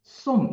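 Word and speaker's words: ส้ม: 발음 은 ' 남 ' 과 ' 솜 ' 이고 , 여기서 는 오렌지 를 의미 합니다 .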